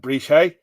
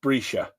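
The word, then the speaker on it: Breeshey: Is it Lal Brescia? Even though it looks like, oh, come on, focus. Try and do that again. There we go. Lal Brescia. Looks like Brescia, but it's Brescia.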